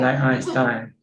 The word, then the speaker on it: Einstein: t-i-e-n right e-i so you look at the the second syllable which one comes second then that's the one that you pronounce like if the e comes after the eye you say e that's winner yes if the i comes after the e then you see the i yes einstein yes exactly okay